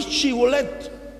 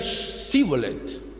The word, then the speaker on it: Shibolet: Entonces los galaaditas le preguntaban: ¿di Shibolet? Entonces ellos decían: Sibolet. Y es decir, los efraínitas, por algún aspecto de su idioma, no podían pronunciar la H hebrea.